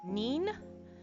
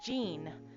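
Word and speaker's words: 人: So the reading um a person is either nin uh n i n or jean j i n.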